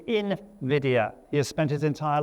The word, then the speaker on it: Nvidia: That is how you say Nvidia. It is not Nvidia. It is Invidia.